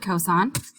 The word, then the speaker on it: cos: cosine you abbreviated cos whenever you see cos you pronounce it cosine and it is adjacent